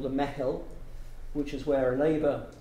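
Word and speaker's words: meitheal: How do you spell it? That's a good one. M-E-I-T-H-E-A-L. Mehel.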